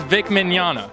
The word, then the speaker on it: Vic Mignogna: Because today alone, I've heard like 4 different pronunciations. I'm like, I hear him say he's Vic Mignogna.